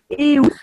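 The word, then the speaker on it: Eus: pas très loin d'ici, qui s'appelle Eous. Ça s'écrit E-U-S. Ça s'appelle Eous, qui est un magnifique village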